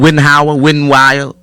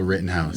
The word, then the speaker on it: Rittenhouse: Wittenhauer? Kyle Rittenhouse.